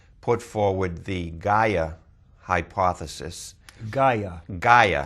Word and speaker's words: Gaia: Gaia. Gaia. How do you spell that?